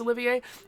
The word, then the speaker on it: Olivier: spelled Olivier, like Laurence Olivier? It is spelled like Olivier. It's harder to say Olivier, and so I've been saying Oliver because I've known people who've pronounced that name both ways, English-speaking people.